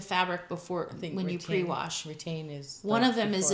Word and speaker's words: Retayne: One of them is called Retain, and it's we'll put it up on the we'll put a link on the screen. Yeah, and a link to it. It's spelled Retayne, and it helps to catch the dye.